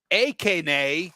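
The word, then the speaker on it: Achane: So Kevin says Akane is how you say his name.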